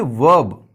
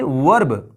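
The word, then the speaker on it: verb: उसी तरह से ये वर्ब, वर्ब, ये वर्ब नहीं है, ये बल्कि वर्ब है, इसमें जो आर है वो साइलेंट है।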